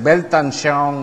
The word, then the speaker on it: Weltanschauung: Creo que es con W, así que creo que en alemán se dice como la B, ¿no? Entonces, Weltanschauung, algo así.